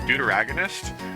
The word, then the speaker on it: deuteragonist: Is that... Like, am I saying it correctly? Like, Deuteragonist? It sounds like such a meme. But, like, that's an actual thing. You love me yet? Eevee, come back. Do you love me yet? No? Jesus. Yeah, you're pronouncing it correctly, pretty much.